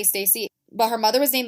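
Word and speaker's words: Stasi: name is lisa it's spelled s-t-a-s-i so i'm gonna say stacy but her mother was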